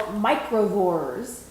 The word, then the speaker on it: Microvores: are you being the judging on is called microvores i hope i'm saying that right michael you're